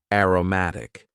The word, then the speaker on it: aromatic: adjective aromatic aromatic and please focus on the pronunciation here Aroma as a noun aromatic this means having a